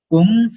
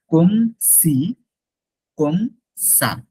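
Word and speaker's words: comme ci comme ça: কি, তখন আমরা বলবো কম সি this one. কম, নট কমে, এটা ভুল করা যাবে না, কমে না, কম সি, কম সা, কম সি কম সা, কম সি কম সা।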